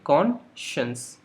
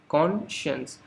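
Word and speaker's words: conscious: सो कॉन्शियस, इस word को आप कैसे प्रोनाउंस करेंगे, कॉन्शियस, कॉन्शियस। और कॉन को बोल्ड में लिखा है, इसका मतलब कॉन पे स्ट्रेस रहेगा।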